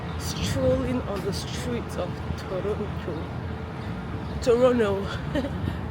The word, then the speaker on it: Toronto: Yeah, and this is me in my fine African print strolling on the streets of Toronto like the T is silent.